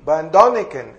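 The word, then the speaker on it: Erich von Däniken: Sí, Van Doniken, esa es la pronunciación.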